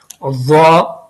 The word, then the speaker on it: ضا: سرے سے پڑھیں گے لیکن اس کا تلفظ تھوڑا الگ ہے. اس کو ہم اس طرح پڑھیں گے، میرے ساتھ پڑھیے ضا، ضا.